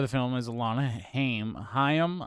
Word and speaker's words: Haim: film is alana haim hayam i think is the the uh the proper pronunciation i think a lot of people say yeah because of cory haim but she's of the